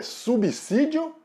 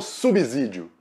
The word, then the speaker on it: subsídio: a pronúncia certo é subsídio ou subsídio roda vinheta o s depois do prefixo sub sempre vai ter som de s mesmo não de z o s só vai